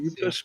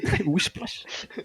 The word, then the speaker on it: Whiplash: Oui, c'est Whiplash, mais il n'y a pas de R, il n'y a pas de Wish. Wishplash.